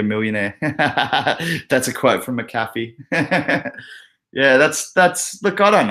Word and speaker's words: McAfee: Medi98 said McAfee is, and I know it's McAfee, but I don't see an extra A in his name, so I'm pronouncing it McAfee.